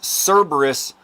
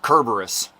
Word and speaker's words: Cerberus: either way okay okay it's it's pronounced it's pronounced Celtic not Celtic and this is Cerberus not kerberus just so you know I I absolutely love